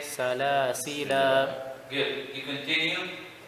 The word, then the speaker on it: سلاسل: سلاسل. Good. You continue. سلاسل وأغلال.